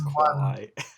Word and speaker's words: Kwai: Like, you get like the Bridge Over the River Kwai is probably the only It's Kwai. Why, whatever. Your pronunciations are pretty how could I put it today?